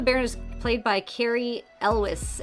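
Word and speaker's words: Elwes: is played by Carrie Elwis." Elways in English. I never knew how to pronounce his um his last name, but yes, he's the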